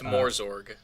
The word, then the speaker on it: Morzorg: Like I had Jel Mozarg, and like it's Morzorg, or that's how I pronounce it.